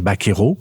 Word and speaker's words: vaquero: Les buccaneros, une déformation du mot vaquero dans la bouche anglophone. Le V en espagnol se prononce souvent B, donc ça donne vaquero, et donc prononcé à l'anglaise, c'est devenu buccaneros.